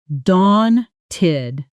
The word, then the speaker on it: daunted: Pronunciation. dawn-tid daunted Sentence.